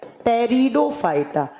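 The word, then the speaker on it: Pteridophyta: और नंबर 3 पे आता है टेरिडोफाइटा। पी से लिखा जाता है जबकि प्रोनाउंस किया जाता है टी से।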